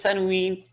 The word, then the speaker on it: tanween: What is tanween? Man, that n sound at the end of the letter. That noon Okay. sound or the sound of the n. That is like ma and an, man. That is called tanween.